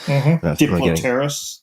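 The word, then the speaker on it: Diplopterys: Is that how that's pronounced? Diplopterus.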